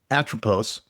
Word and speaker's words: Atropos: Really briefly, um, uh, and I don't want to pronounce it wrong, atropose.